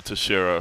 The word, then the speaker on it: Teixeira: That was Glover Teixeira from Nashville, Tennessee. Glover, that's exactly how you're supposed to say it right. I've learned from my multiple trips down to Brazil.